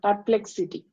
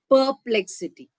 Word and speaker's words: perplexity: Uh perplexity. Perplex. Don't say per. Okay. R is not R is rounded off there. Perplexity.